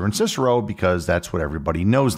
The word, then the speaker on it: Cicero: principia that being said there are other Latin words with a c that are usually not pronounced with a hard C Caesar and Cicero would technically be pronounced Kaiser and kikiro but we say Caesar